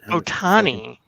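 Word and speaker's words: Ohtani: looked like it um uh what's his face ohani how do you say it Otani Otani $700 million dude yes sir 700 million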